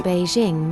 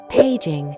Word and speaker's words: Beijing: Similarly, the Chinese capital Beijing may also be pronounced with pei instead of bei, paging, without affecting the meaning.